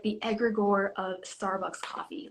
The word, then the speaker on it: egregore: Talk a little bit about the term egregore. Yes. Am I pronouncing it properly? Yes, yes. I love the egregore.